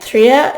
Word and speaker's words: tre: And Trea is spelled T-R-E. And you roll the R in Swedish, and I can't do that, so that's why it comes out like that.